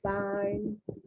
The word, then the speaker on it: find: fined be careful because in english a lot of times we don't pronounce the in the last letter so people will say i let me see i find your remarks insulting that